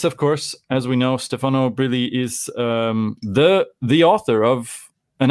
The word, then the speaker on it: Stefano Brilli: Wait a second, how do you pronounce your name properly? Stefano Brilli.